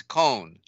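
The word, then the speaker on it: khone: And and again, that word con, you know, it's cone, and it's spelled K-H-O-N-E.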